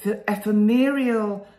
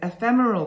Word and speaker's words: ephemeral: know these quotes emphasize the E ephemerial and if that's I don't know whether I can pronounce it ephemeral that's it ephemeral and fleeting nature